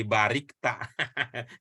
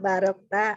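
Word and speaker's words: باركت: gimana ceritanya jadi barikta? Gimana jadi barikta itu? Pak. Ibu kalau sholat memang begitu tahiyatnya? Jangan-jangan Ibu begitu ya bacanya waktu sholat? Ya Allah, ini. Coba. Nggak kelihatan. Kama barokta ala Ibrahim wa ala ali Ibrahim.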